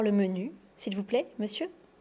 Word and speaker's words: monsieur: Monsieur Monsieur pas s monsieur en fait c'est le même son e dans les deux syllabes monsieur et on ne prononce pas le r.